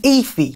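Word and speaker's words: Aoife: his two older sisters are called irene and ify now that is spelled like this a-o-i-f-e which is incredibly confusing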